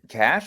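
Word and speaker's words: Caché: oh what what's the is it cash or CA cach a yeah I think it's pronounced cash okay yeah that's a good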